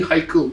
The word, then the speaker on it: Haikel: You don't want to call me uncle? Call me Haikel. It rhymes.